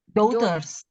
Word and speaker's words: daughters: enggak usah dibaca daughters daughters i gh-nya enggak usah ikut dibaca gh-nya enggak usah ikut dibaca coba Kak diulang daughters daters ya Jadi kalimatnya kayak